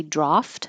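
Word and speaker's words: draught: you have two choices you can say draft which would be more British with an A or a draft with an a you'll see this on menus and sometimes it's spelled draft beer with an aft or a ug ght but it sounds the same um this could also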